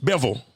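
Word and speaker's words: Bivol: Beville. Beville.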